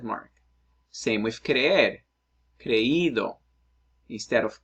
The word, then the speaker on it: creído: Same with creer, creído instead of creído, leído instead of leído, oído instead of oído.